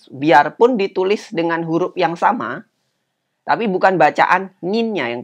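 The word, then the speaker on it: 様: Bila versi yang lebih sopan, kata nin tadi, itu kita ganti dengan sama. Huruf kanjinya seperti itu. Ya. Sama, ini bacanya sama.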